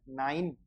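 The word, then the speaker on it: nein: आई, आई देखा है अपन ने, तो न आई तो नाई, और एन का न, नाइन।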